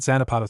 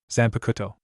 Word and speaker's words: Zanpakuto: What's that Zanapato thing? Ino asked, saying it wrong. Zanpakuto. Jiraiya corrected.